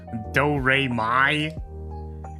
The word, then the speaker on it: Doremy: You got like 3 fucking syllables in there. Do-Re-Mi. It's like the music thing. It's a pun.